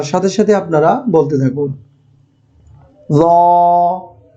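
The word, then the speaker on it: زاي: জ উচ্চারণের নিয়মটি হলো জিহ্বার আগা সামনের উপরের দাঁতের আগায় স্পর্শ করতে হবে।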